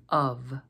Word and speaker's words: of: above save and drive there's one other way that we can get this sound and that's with an F as in the word of of to make the